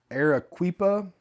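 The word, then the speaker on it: Arequipa: So Lima, Eeka, Araquipa, Moa. You pronounced all those amazingly.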